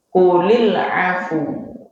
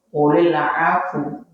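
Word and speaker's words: قُلِ الْعَفْوَ: Ini sedikit saya ini kadang ada yang salah bacanya gini, qulil af keliru ya. Secara ilmu tajwid yang benar gini, qulil afu gitu, bukan qulil af gitu, keliru ya, qulil afu.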